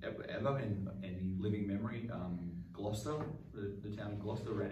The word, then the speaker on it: Gloucester: But G-L-O-U-C-E-S-T-E-R, Gloucester. Like Leicester. Look up how Leicester is spelled.